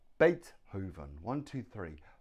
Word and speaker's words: Beethoven: look at his name Beethoven one two three Beethoven Beethoven now the stress is on the first syllable Beethoven has Beethoven three